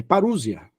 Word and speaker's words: parousia: palavra parusia né el você aplica a palavra parousia se escreve parousia mas não existe parousia é parusia parusia certo parusia por exemplo já